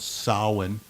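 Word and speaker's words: Samhain: It's balanced by another holiday in the fall and that in the Celtic tradition is called sin. S A M H A I N. Sin. It's pronounced a little bit differently.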